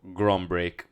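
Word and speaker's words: Grønbæk: That's the correct pronunciation, bro. Grombek.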